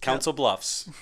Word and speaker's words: Council Bluffs: How is it pronounced? Council Bluffs.